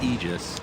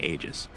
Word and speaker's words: Aegis: that's really important center the pronunciation of ages it's actually aegis right right like literally a definition you can look it up but icefrog messaged somebody at bts and said i don't want it pronounced that way so if that's i'm